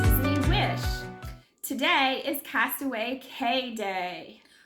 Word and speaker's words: Castaway Cay: Today is Castaway K day. Or is it key? I don't know. I've heard it pronounced both, even by the cast members. We're going to say K.